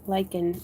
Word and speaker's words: lichen: Lichen is the way to pronounce lichen.